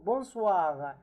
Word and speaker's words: bonsoir: Bonsoir. Bonsoir. Now, be attentive, please, that the O-I letters in French are translated wa, are pronounced, sorry, wa, wa.